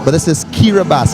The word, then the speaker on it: Kiribati: spelling but this is kiribas it's spelled k-i-r-i-b-a-t-i yet it is pronounced kiribas it's made up of